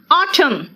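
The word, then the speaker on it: autumn: ठीक है ठीक है एन कहां कहा साइलेंट है देखो तो इट्स सोलम एन है लेकिन मैंने क्या कहा सोलम ऑटम हेम मंत्र को हेम कहते हैं महिमन नहीं कहते कॉलम एंड साइलेंट है ना आप देखो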